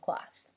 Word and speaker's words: cloth: there the plural of cloth so let's start with cloth the vowel sound is the aw as in law and the th sound is unvoiced cloth the plural can